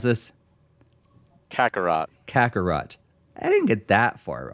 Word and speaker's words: Kakarot: z so fill me in how do you pronounce this kakarot kakarot i didn't get that far off yeah kangaroo